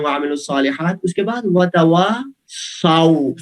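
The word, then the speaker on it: وَتَوَاصَوْا: اس کے بعد وتواصوا، صاد کے اوپر زبر ہے، بعد میں واو، وتواصوا بالحق وتواصوا بالصبر. یہ ہمارے جلدی پڑھنے کا بعض دفعہ یہ نتیجہ، آپ نے اچھا پڑھا ہے لیکن بعض دفعہ جلدی پڑھنے کا نتیجہ یہ ہوتا ہے ہم پڑھتے ہیں وتواصوا بالحق وتواصوا، سو نہیں ہے، زبر ہے، سو تو غلط پڑھنا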